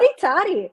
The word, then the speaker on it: Hotty Toddy: I'm ready to go hottie toddy. Am I saying it right? Hotty toddy.